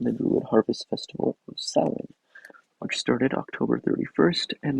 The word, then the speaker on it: Samhain: Although you've probably heard this name before, it is not pronounced Samhain, even though that's how it's spelled. It is indeed pronounced Samhain.